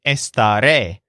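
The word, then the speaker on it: estaré: I stay at home this word is pronounced with the stress on the last syllable which sounds like ray so if you think esta ray you'll remember the future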